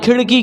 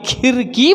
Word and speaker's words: खिड़की: नहीं बोल रहा हूं मैंने बोला खिड़की ना की खीर की बोला मैंने क्या बोला खिड़की लड़का